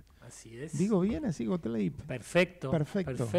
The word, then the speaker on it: Gotleyb: es digo bien así golap Perfecto perfecto suenan todas las letras sí origen judío alemán Ajá bien Así que lo pronunciamos bien got sí creo que en alemán se dice gotlib Ah ay que sería